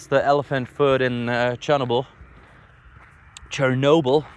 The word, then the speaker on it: Chernobyl: Chernobyl, that's how you pronounce it.